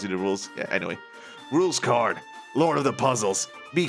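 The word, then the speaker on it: Rouxls Kaard: name right time's up the pronunciation is rules card got it rules card because there's lots of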